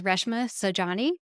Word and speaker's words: Reshma Saujani: sure I enunciate correctly that her name is Reshma Saujani, and she is the CEO of Girls Who Code.